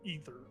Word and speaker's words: ether: common uh read says e it's I'm gonna spell it out. It just says e h eer e. So, like ether.